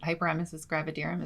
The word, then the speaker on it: hyperemesis gravidarum: call as I don't even know how you pronounce it, hyperemesis gravidarum.